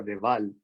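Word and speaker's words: de Waal: monos capuchinos hay un primatólogo que se apellida de val plan ves aquí se pronuncia da igual es igual porque es con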